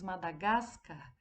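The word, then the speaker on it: Madagáscar: nós irmos aí que quando nós pronunciamos madagascar o gás ficou mais forte é a penúltima sílaba então aí ela vai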